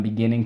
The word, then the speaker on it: beginning: Okay, I'm beginning to do this. I got inspired, right? That sort of thing. Okay, beginning. Let's go. Beginning. I'm emphasizing that third syllable for everybody.